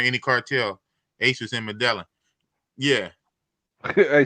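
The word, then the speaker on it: Medellín: Ace was in Medellin. Yeah. Hey, say that again. Ace in where? He was in Medellin, but nah. Man said Medellin. Yeah, Medellin. Yeah, I know Medellin. I said Medellin.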